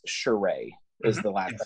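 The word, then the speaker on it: Charest: wrong I believe it's shereé is the last I believe it's a French pronunciation but I don't even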